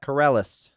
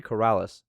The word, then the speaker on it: Corrales: right uh Henry Collette corellis wow I can't believe I just pronounced it like that Henry Corrales verse uh Ahmed magomedov all